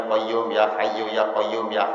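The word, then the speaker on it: قيوم: Kan mestinya bacanya ya Hayyu Ya Qayyum Ya Hayyu Ya Qayyum Ya Hayyu Ya Qayyum.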